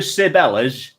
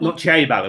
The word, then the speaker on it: Ciabella: But being in deepest, darkest Derbyshire, nobody pronounced it correctly. Everyone around here just called it. You're going to Sibella's, not Ciabella, which is what it is supposed to have been.